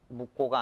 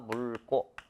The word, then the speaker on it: 묽고: 묵고가 아니라 물고.